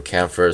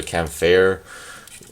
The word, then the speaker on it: Kampfer: I usually go for Kampfer. Some people say Kampfer.